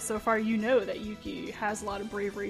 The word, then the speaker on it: Yuki: the way AA says it's actually supposed to have a long u sound there Yuki but it's just easier to say it quickly Yuki sorry sorry for my